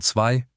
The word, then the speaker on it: zwei: Count the tricky sounds, soft ch in ich, umlaut in möchte, z as ts in zwei, ü plus ch Four of the six sounds you just learned in one sentence.